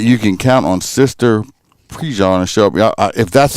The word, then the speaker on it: Prejean: Prejean is how it's pronounced here.